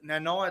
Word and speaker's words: Nanai: I think that's how you pronounce it. It's Nanai. It's a bit of a new way to pronounce it.